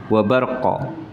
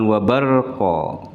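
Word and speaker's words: وبرق: Tapi qalqalah sugro itu enggak ada jedahnya. Wabarqa, bukan wabarqa. Yaj'aluna asabi'ahum fi adhanihim minas sawa'iqi hadharul maut.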